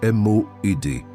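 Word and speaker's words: מועד: La parole hébraïque qui définit exactement ce qui se passe en toi en ce moment est M-O-E-D. Prononce-la avec moi, où que tu sois.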